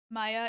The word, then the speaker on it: Maya: you die Jesus Christ Jesus uh chill Woman Maya is how it's pronounced okay so it is Maya then okay